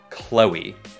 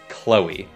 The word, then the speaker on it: Chloe: Nó không phải Chloe mà là Chloe. Hai âm tiết Chloe.